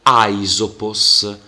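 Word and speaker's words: Αἴσωπος: spirito Allora questo diciamo nome proprio si legge aisopos spirito e accento si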